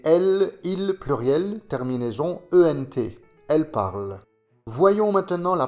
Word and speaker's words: parlent: Et pour le pluriel, il, elle, la terminaison ENT ne se prononce pas. Il parle, elle parle.